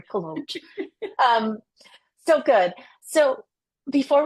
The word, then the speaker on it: Kolouch: And now your last name, I mispronounced it. Sorry. Collo.